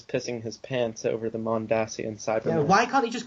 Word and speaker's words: Mondasian: that I guess it's officially pronounced mondasian well it's yeah it was always pronounced mondasian I mean you know the name of the plan is mondas not um what you say